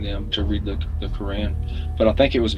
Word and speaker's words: Quran: Quran I never Quan Quran am I saying it right is it Quran or Quran I think it's cran but I never read it